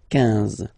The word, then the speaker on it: quinze: Same thing here, U doesn't exist, so quinze, quinze, quinze, alright? IN, nasal, so it's un, quinze, quinze, okay?